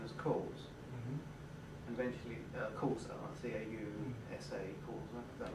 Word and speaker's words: causa: I would pronounce it aitia. Yeah. Which was translated into Latin as cause, and eventually causa, C-A-U-S-A, causa, is that right?